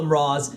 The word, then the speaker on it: Mraz: Hello, Mraz. Yes, I call you guys Mraz. Yes, I know it rhymes with bras.